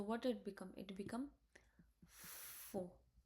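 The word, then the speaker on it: faux: It become four. F a u is like o. So it become four.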